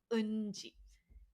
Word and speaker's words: Eunjee: I say, oh, okay, like Eunjee or Eunjee or Enjee or whatever. Then what should I say? Oh no, it's Eunjee.